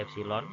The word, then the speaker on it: epsilon: Itu dibacanya epsilon.